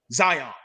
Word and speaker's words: Zion: By his first name, one syllable, Zion.